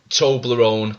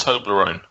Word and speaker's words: Toblerone: Toblerone come from?